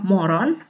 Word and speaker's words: morgon: Lalu ada morgon, tulisannya morgon, dibacanya moron.